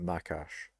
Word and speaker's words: Makash: a lot of chat more like mac Ash or macash I mean I pronounce it makash so more like the